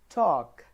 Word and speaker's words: talk: the first bullet point the letter L is silent in certain words like talk half there is no